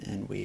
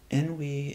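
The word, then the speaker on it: ennui: we are releasing the emotions of depression and enway for increase confidence and happiness and feelings of Bliss n we is it's it's spelled e n n UI and it is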